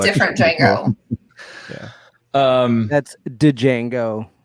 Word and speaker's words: Django: girls yeah um that's dejango dejango with the d the d is silent oh i i need